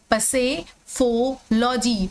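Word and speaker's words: psephology: मतलब हमें ये याद हमें पता है कि यहां पर पी साइलेंट है। लेकिन फिर भी हमें याद कर सकते से समय इसको पी को भी प्रोनाउंस करना है।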